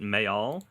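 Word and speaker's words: Mejal: And something that she said was that what she was writing in the part where I believe it's the character, you pronounce it Mayal, the shorter one with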